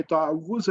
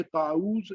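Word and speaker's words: تعوذ: तावुज़, तो सबसे पहले तो जो है वो इसको हमने प्रोनाउंस सही करना है कि तावुज़ है, ये ताऊज़ या कोई और इस तरह का लफ्ज़ नहीं है, तो इसको तावुज़ बोलेंगे, तावुज़।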